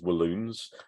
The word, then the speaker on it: Walloons: Northern Belgium is Flemish, whilst the south is Walloons, which I always find funny as that rhymes with balloons.